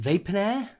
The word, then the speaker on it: Vaponaire: I'm going to pronounce it Vaponaire, as in like millionaire.